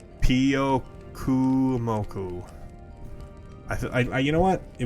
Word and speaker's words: Pyukumuku: In today's video, you are going to learn how to pronounce Pyukumuku. Pyukumuku.